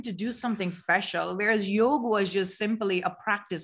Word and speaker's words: yoga: you want it like yoga is not pronounced as yoga it's yog yog yo really so in india